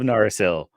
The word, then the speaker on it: Narsil: I think about it yeah naril shards of narsil yes that that was the craziest things is